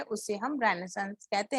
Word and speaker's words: Renaissance: तो first of all will see the pronunciation of रेनेसांस। इसको हम रेनेसा बोलते हैं, बट इट इज नॉट रेनेसा, इट इज रेनेसांस। Okay, now will see the time period.